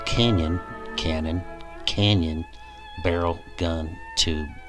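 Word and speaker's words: cañón: how to fuse interestingly the word cannon in spanish is spelled c-a-n-o-n and pronounced like the english canyon here's the definition from google translate which is more like a list of synonyms l canyon cannon canyon barrel gun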